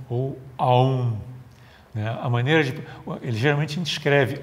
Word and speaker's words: Aum: estão presentes no mantra om ou Aum A maneira de geralmente escreve ou M mas a pronúncia completa desse mantra é como se tivesse a u&m onde cada uma dessas